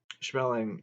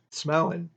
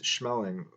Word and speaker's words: Schmeling: "Smellin'," Joe Louis called him, "smellin'." After each victory, Joe Louis told reporters, "I wish that had been smellin' in there." The pronunciation was off just a bit.